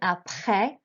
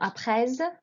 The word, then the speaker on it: après: So here we have the first one, après, not après. You don't pronounce the S at the end, just the last vowel sound, après le collège.